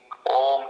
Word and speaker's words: Om: Om consists of 3 syllables or matras. A, U, Ma. And most importantly, it is followed by silence called amatra. So it is symbolized in many different ways depending on one's perspective.